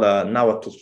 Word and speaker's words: Nahuatl: It's called Nahuatl. That's the one. They have like this tricky TL sound at the end. It's like, you know, it's like breathing into your front teeth or something.